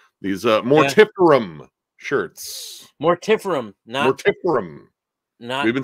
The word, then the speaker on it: Mortiferum: for you man these uh more tip shirts more tifferim we've been saying it wrong all of us